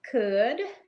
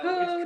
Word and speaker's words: Cood: bring to you Cood. Can we bring him in? Hey. Did I say it wrong? Yes, you did. That's all right, though. Cood. It's cool. Kind of like dude.